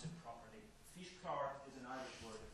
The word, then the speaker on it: Físchlár: learn how to pronounce it properly. Físchlár is an Irish word.